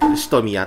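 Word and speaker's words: 蔀屋: しとみやって読みます。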